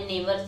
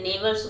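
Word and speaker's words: neighbours: Mummy, Y यानी क्यों, आर हैं, आल सभी, आवर हमारे, नेबर्स यानी पड़ोसी। देखिए यहाँ पे नेबर्स बोलते हैं इसको, GH साइलेंट है, ठीक है, यहाँ पे नेबर्स पढ़ा जाता है इसको।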